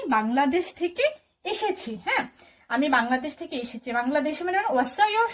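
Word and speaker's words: 방글라데시: আপনি কি বলবেন, আমি বাংলাদেশ থেকে এসেছি, তাই না। তো বাংলাদেশ একটু আগে আমরা শিখেছি জনুন, জনুন মানে হচ্ছে আমি, বাংলাদেশ। তো বাংলাদেশকে আসলে ওরা কিন্তু কোরিয়ানরা বাংলাদেশ বলে উচ্চারণ করে না, ওরা উচ্চারণ করে বাংলা দেশি বলে।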